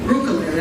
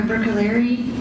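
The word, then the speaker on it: Bruccoleri: Brooker, I'm sorry. Can you please state your name and spell it for the record? Sure. It's Dr. Brookaleri.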